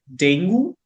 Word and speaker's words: dengue: But yes, it's dengue. It's not dengue. And again, guess it goes back to our first language. They are used to pronouncing the words Hmm. as they are written.